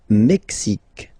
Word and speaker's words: Mexique: Le Mexique. Le Mexique. Mexique. It's really the X. Huh? Le Mexique. And then remember this QUE, it's only K.